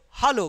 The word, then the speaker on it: hallo: In German it become hallo. Hello become hallo. Hello, hallo. Hello, hallo.